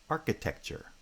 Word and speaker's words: architecture: like introduction introduction and architecture architecture so the stress patterns are different because introduction has primary stress on the second foot and architecture has primary stress on the first foot but within each bisyllabic